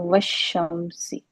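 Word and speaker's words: والشمس: लाम के ऊपर इसलिए कुछ नहीं है क्योंकि यहां पे लाम को हमने पढ़ना नहीं है और शी के ऊपर जो है वो शद आ गई है। तो व शमसी ठीक है जी।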